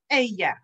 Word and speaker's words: ella: Remember, the double L in Spanish makes the y sound. I have heard many incorrect variations of this word, and I'm not going to repeat them because I don't want it to get stuck in your mind. This word is correctly pronounced ella.